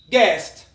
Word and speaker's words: guest: to the letter u u is silent when it comes after g and before it vowel examples yes which means to think or to reckon guidance which means to give an advice guitar guest a guest is a